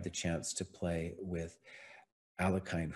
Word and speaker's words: Alekhine: chance to play with Alekhine, who Kostya will pronounce something like Alyoshin, you know, something fancy like that.